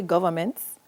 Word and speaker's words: governments: So it is spelled governments, even though you don't really emphasize the sound of the N in there. So you really do say governments, but the N is in there, hiding, is silent.